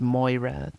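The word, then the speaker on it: Máire: asked Mare, pronounced Moira the weaver, her voice sharp with worry.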